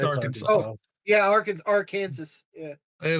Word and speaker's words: Arkansas: It's illegal to mispronounce the state's name. Arkansas. Massachusetts? It's Arkansas.